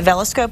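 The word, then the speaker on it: VELscope: And I think, well, like I said before, when we showed the veloscope, that's how you pronounce it, the veloscope last time, it really, you could see it was a very simple process.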